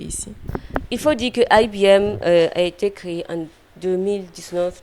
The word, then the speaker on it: IBIM: Voilà, eh bien, ça se prononce IBM.